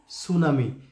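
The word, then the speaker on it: tsunami: অর্থ বা উচ্চারণ নেই, এখানে টিটা হচ্ছে একটা সাইলেন্ট লেটার, আর সুনামি আমরা জানি, সো টি সুনামি মানে হলো সুনামি, পুরোটার উচ্চারণ হচ্ছে সুনামি, এখানে টি সাইলেন্ট লেটার, তাহলে টি সুনামি মানে সুনামি।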